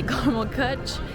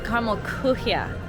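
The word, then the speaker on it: Karamell-Küche: And I always say caramel kutsch, and it's caramel kuchia, which I'm still probably pronouncing wrong, but I'm closer this time than all the other times I've said it over in Germany.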